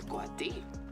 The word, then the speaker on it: coati: Jaguars like to hunt coati, no? Coati, the correct way to say it.